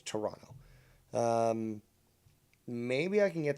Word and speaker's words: Toronto: how it's pronounced that the t is silent at the end so it's toronto um maybe i can